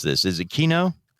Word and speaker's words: Quinault: How do you pronounce this? Is it Quinault? Quinault, yeah.